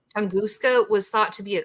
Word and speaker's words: Tunguska: How do you pronounce the is it Tunguska? Tunguska. Tunguska. Tunguska was thought to be a comet that blew